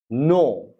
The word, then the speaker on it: know: or k-n-i-f-e knife or k-n-o-t or k-n-e-e k-n-o-w no okay now now know w no now now